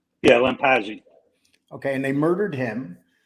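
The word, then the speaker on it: Lampasi: Lampazzi? Yeah, Lampazzi.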